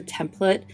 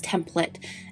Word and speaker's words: template: Side note, someone once commented on my video that I was saying it wrong that I was saying template and they're like it's template and then I realized it's a Midwest thing.